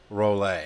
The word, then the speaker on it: Rolay: No, but the proper way to say it is instructor Rolay.